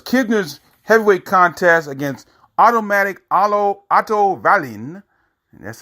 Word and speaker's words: Otto Wallin: New Jersey, because Kisner's heavyweight contest against Automatic Otto Wallin, that's how you pronounce his name, of Sundsvall, Sweden, that ended at the end of the first round after an unintentional headbutt.